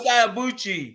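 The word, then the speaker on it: Ibeabuchi: Ike Ibuchi.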